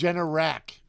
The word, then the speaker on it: Generac: But the genetic, whatever that name of that 212 is, Generac. Generac. Is that how it's Yeah.